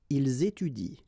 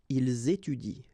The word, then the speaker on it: ils étudient: so you will get ils étudient. All right, ils étudient. You don't pronounce that.